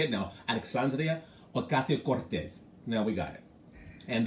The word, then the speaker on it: Alexandria Ocasio-Cortez: Listen, when I tell you, it's like you're in Spain when you pronounce her name.